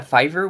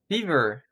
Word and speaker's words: Fiverr: yeah what pronounced no oh Fiverr and how did you think it was pronounced fever oh fever like like the when you're sick okay I get it